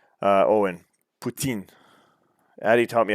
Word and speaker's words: poutine: quebec while i know all right uh owen poutine addie taught me how to say it properly putin uh joseph walker at the plate with one